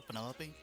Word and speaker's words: Penelope: Is that short for Penelope? Officially, yes, but I never can be bothered with all 4 syllables of Wow.